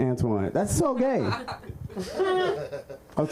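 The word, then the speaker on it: Antjuan: born straight and then my parents named me Antoine like with a name like Antoine in my cheekbones you know what I mean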